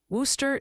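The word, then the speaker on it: Wooster: Worooster is apparently Worcester rhymes with rooster not.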